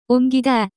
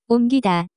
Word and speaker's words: 옮기다: The pronunciation of this word is closer to 옮기다, 옮기다.